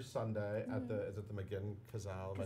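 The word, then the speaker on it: McGinn-Cazale: It's playing through Sunday at is it the McGinn Cazale?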